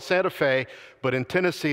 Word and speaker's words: Santa Fe: It's spelled Santa Fe, but in Tennessee it's pronounced Santa Fe.